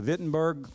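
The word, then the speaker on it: Wittenberg: Luther went to the vitberg church door I know it starts with a w in German it's pronounced with a V and he nailed him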